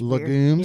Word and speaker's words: legume: I honestly And the way you keep saying it, it's legumes. You know how to spell it. L E G U M E.